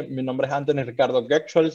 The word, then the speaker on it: Götzschel: Como ya dijiste, mi nombre es Anthony Ricardo Goetschel, se pronunciaría en alemán. Un poco complicado. Toda mi vida en Venezuela fue tratando de decir mi apellido correcto, pero está bien, perfecto.